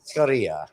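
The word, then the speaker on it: churrasco: but it's good yeah korea all right you have to think that double r is like a h for you i'm used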